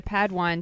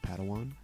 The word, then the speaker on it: padawan: master yoda assigned a pad one to this bold jedi it's pronounced padawan oh padawan excuse me hey it's getting late